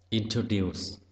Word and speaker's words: introduce: Introduce, trọng âm rơi vào âm tiết thứ ba.